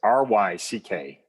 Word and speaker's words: Ryckaert: Yeah, it's Ryckaert. It's the double vowels and the CKs that get people. I tell people usually it's common spelling, but it's spelled as it sounds.